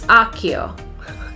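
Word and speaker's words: Accio: It's not Akia, it's Akio.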